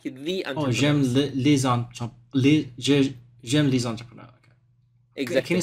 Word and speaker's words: entrepreneurs: the I like the entrepreneur exactly can you say one more time entrepreneur the S is silent at the end we don't pronounce them now oh okay exactly